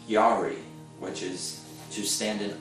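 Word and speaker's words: ירא: Another word that's used in the Old Testament in Hebrew is pronounced yari, which is to stand in awe and reverence and respect of God.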